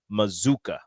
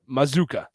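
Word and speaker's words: Mazzccua: As a PSA, the pronunciation is Mazuka. Okay. Mazuka. I know things. I'm not saying you do, Rico, but it's different. I know it doesn't it doesn't look like it. It doesn't look it. It shouldn't pronounce that way, but it does.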